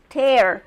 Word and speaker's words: tear: In this one, it's pronounced tear because it's rotura, like, oh look, this is not a tear, but look, I have a tear in my sweater.